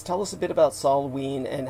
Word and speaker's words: Samhain: celtic holiday of uh salween as it is pronounced it's spelled yes yeah s-a-m-h-a-i-n but celtic of course is never pronounced as it's spelled it's like the kampuchean